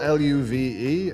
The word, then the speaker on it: Luve: Yeah, So it's spelled L-U-V-E. I've always pronounced it Love, which I always thought was a beautiful name for a product.